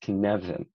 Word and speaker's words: Cynefin: to introduce you to the connection framework pronounced king nevin it's a welsh word the literal translation is